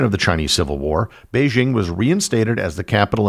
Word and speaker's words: Beijing: using the Roman alphabet under pinion the city name is pronounced as Beijing under the Communists the